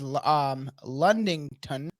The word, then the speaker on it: Ludington: And Michigan side, there is Ludington to the Ludington? north. Ludington to the north. Ludington. Even though there's an N, it doesn't matter.